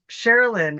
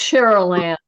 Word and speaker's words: Cheryl Ann: Sherilyn, and then we'll go to Thea. Apologies if I said your name wrong. Oh, it's Cheryl Ann, but that's okay.